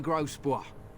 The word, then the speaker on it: Grosbois: de Grosbois, merchant and entrepreneur at your service. It's spelled gross, boys. I'm Warden.